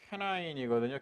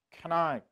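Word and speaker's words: כנען: 원래 가나안이 캐나인이거든요. 캐나인. 우리가 이제 우리나라 말로 그냥 가나인이라고 가나안 뭐이라고 읽습니다만은 히브리어로다가 가나안이 캐나안 이건 뭐냐면요.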